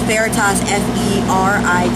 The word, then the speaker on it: Feritas: A lot of people, including myself, don't really get the pronunciation the first couple times. Feritas? What the hell are those? I know, we get that a lot. Feritas burritos. So we always joke around about that. Feritas burritos.